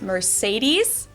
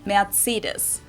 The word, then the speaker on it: Mercedes: in Germany um so most americ call this Mercedes in German we pronounce it Mercedes so Mercedes versus matus matus so it's really